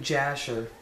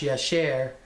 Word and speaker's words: Jasher: And if you read the book of Jasher, which is actually pronounced Yasher, and it's the book is in the Jewish religion.